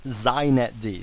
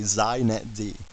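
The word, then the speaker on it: xinetd: me just say a couple things first it's pronounced zet D so if you want to be hip you say zet D okay and secondly it's the epitome of why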